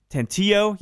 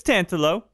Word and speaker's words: Tantillo: I gotta tell you, I completely mispronounced that name when I first read it. Tantillo, I wanted to shine it up, fancy it up, but it's Tantillo, a classic Italian name, Jessica tells me.